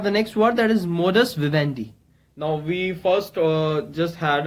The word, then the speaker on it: modus vivendi: so again it's a noun okay and the pronunciation is morris Vivendi you can just read it out here it's morris vendee and its meaning is a way of living